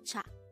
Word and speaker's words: 차: This is composed of just one syllable, and this is pronounced as cha.